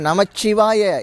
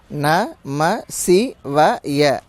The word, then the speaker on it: நமசிவய: அதே மாதிரி நமச்சிவாய இச்சு சொல்கிறீங்க. ந ம சி வ ய இந்த 5 எழுத்து தான் உயிரோட கலந்துருக்கு, நம்ம உடம்போட கலந்துருக்கு, இந்த 96 தத்துவங்களோட கலந்துருக்கு. இது இல்லாமல் நம சிவாய அப்படின்னு உச்சரிக்கிறதும் நமச்சிவாய அப்படின்னு அழுத்தி உச்சரிக்கிறதும் இல்லை. 5 எழுத்துள்ளே ஒளிந்த நாதியான மந்திரம் 5 எழுத்து தான். இச்சு போட்டிங்கன்னா 6 எழுத்து ஆயிரும்.